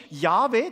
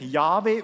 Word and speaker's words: Jahwe: Man spricht das wahrscheinlich Jahwe aus.